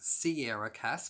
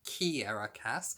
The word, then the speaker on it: Kiera Cass: in my April TBR I referred to as Sierra Cass, but it is actually pronounced Kiera Cass, so I do apologise to Kiera on that one.